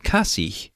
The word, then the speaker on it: kasih: Even when it's at the end of the word, the H is always pronounced.